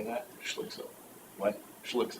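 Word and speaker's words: Schlick: l-i-c-k s-u-p and how do you say that she looks so what she looks like okay grants are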